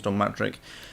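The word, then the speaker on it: Don Mattrick: instance is I have a sneaky suspicion that Don matrick perhaps which I actually pronounced wrong last time it's not dtic it's Dom matrick um I have a sneaking suspicion he may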